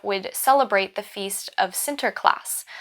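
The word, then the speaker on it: Sinterklaas: celebrate the Feast of sinter class which is the Dutch pronunciation of Saint Nicholas people would begin this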